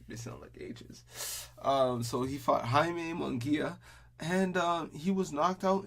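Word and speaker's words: Jaime Munguía: golovkin to undercard um he fought Jamie or Jaime munguia cuz they'll you know pronounce Jason Spanish missile engages so he fought Jaime munguia and he was knocked out in the third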